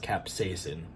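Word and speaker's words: capsaicin: capsicum I don't know it's actually pronounced capsacin which is a irritant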